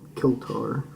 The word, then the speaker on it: Kiltar: Six o'clock is spoken Kiltar, or literally 6th hour. Kill plus tar.